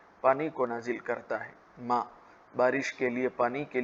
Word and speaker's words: ماء: لیے استعمال ہوتا ہے ماء، جس کو عام طور سے اس کو عام عربی لہجے میں مویا لوگ کہتے ہیں، جو کہ اصل لفظ ہے ماء، پانی۔ بارد کا معنی